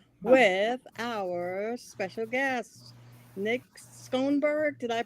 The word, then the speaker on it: Skonberg: It's getting to be fall, and I'm happy to be here with our special guest, Nick Skonberg. Did I pronounce it correctly? Skonberg, but close enough.